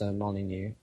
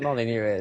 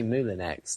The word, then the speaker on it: Molyneux: I used to skip out the U. I'd say silent U. Silent U, of course.